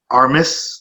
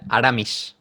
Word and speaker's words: Aramis: I believe Armis, is that how you pronounce his name? Yeah, Aramis.